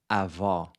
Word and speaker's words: avó: a closed O, and avó, grandmother, which is pronounced with an open O.